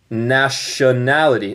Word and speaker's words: nationality: Nota mi pronunciación. Esta palabra es extraño. Nationality. En el inglés americano yo voy a decir este T más como R en español. Y este, shun. Cuando ves T-I-O-N, en inglés usualmente suena como shun.